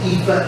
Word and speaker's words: Aoife: It's an Irish name, and it's said Aoife, and it's spelled A-O-I-F-E.